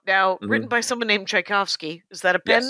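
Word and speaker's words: Czajkowski: like uh CZ versus instead of THC it's CZ but it's pronounced the same and he I guess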